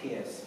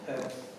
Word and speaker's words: Peirce: The name kind of looks like Pierce, but it's pronounced Perth, i.e. the other way around.